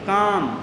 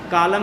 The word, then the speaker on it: calm: And there was a great काम, CALM, एल नहीं बोला जाएगा, साइलेंट है ना, कालम नहीं है, ये काम है।